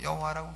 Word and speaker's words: 여호와: 하나님이시구나 하나님의 이름은 여호와이시구나 어떤 분은 뭐 야훼라고 하는데 야훼인지 여호와인지 우리가 하나님의 이름은 정확한 발음은 야외라고 하실 분은 하시고 그럼 우리에게 성경에 여호와라고 기록되어 있으니까 우리는 그냥 여호와라 하겠습니다 하나님의 이름이 누구십니까 여호와